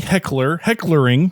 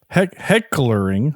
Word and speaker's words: Heckerling: So this was directed by Amy Heckerling. Excuse me, Heckerling. I gotta say it. Heckerling. I'm adding extra syllables.